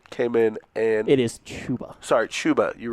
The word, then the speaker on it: Chuba: It is Chuba.